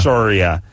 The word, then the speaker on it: Soria: Like Soria. You shut up. What's your name? Soria. Okay, see, it's not Soria. Soria.